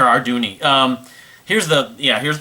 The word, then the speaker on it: Arduini: guy named victor arduny that's how he spells it how he pronounces him arduini or our dooney um here's the yeah